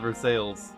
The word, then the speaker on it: Versailles: versailles how about that i swear we have a city called versailles and that's how we say it oh i say